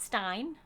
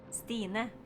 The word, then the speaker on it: Stine: So, it's not Stein. It's definitely not Stein. It's not Steen either. I'm gonna try and give you a good interpretation of it. So focus. Focus very closely. This is how you say my name. Stine.